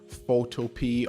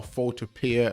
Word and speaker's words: Photopea: Now, for those who don't know, there's a site out there called Photopea or Photopea. A lot of people pronounce it in different ways, but this site is